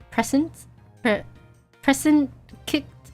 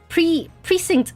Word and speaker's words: precinct: Present kicked. I don't know. Not a prequel. It takes place between two games. Ooh, okay. Precinct.